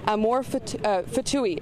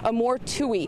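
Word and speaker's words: Amor Ftouhi: their radar at all again his name is Amore F fouille his name is actually pronounced Amore Tui he's around 50 years of age from Canada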